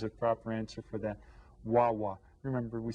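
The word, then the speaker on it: guagua: a story about this what is a bus called in Puerto Rico WWA W and Gua Gua is how they spell it in Spanish okay now your teacher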